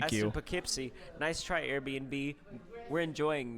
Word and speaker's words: Poughkeepsie: Poughkeepsie? Yeah, that's Poughkeepsie.